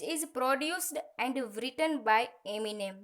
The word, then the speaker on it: एमिनेम: Which is produced and written by एमिनेम। देखिए यहाँ पर जो एमिनेम है उसका जो प्रोनाउंस ऐसा होता है एमिनेम, ठीक है, तो आप उसका ध्यान रखिएगा।